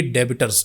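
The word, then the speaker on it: debtors: और जब हम उधार किसी को देते हैं उसको क्या बोलते हैं, सन्ड्री डेबिटर्स, ठीक है, सन्ड्री डेबिटर्स, या फिर बी साइलेंट हो जाता है, सन्ड्री डेटर्स, दोनों पढ़ सकते हैं।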